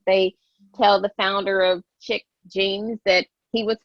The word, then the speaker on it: Chic: because i've you know people call it sheep because it's spelled c-h-i-c and i've actually had plenty of people tell me that i'm pronouncing it wrong and i'm like oh